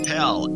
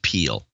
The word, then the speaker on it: Pell: Charles Pell, a.k.a. Sir Opticius in Mankato, Minnesota. 260-59. Charles, it's actually pronounced Peel.